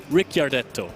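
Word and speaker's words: Ricciardetto: I have had problems with the pronunciation because there is an I in there, and I never know where, but it is Ricardetto.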